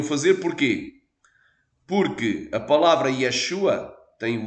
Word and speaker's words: Yeshua: coisa Por que razão os gregos não dizem Yeshua como exatamente o som hebraico porque não poderiam Amém não poderiam fazer porquê Porque a palavra Yeshua tem o yod com o som de i